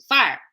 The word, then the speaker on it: fire: like aim Torpedoes fire so her fire is one syllable she's at fire it fits in one syllable she doesn't say fire right so that's the difference between this Pacific Northwest accent and other Regional dialects or even fake dialects like the transatlantic in the U.S that that ER sound creates a whole new syllable in English we have